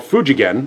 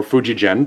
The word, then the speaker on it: Fujigen: So Greco was a Japanese guitar maker manufactured by a company called Fujigen, or Fujigen, depending on who wants to pronounce it.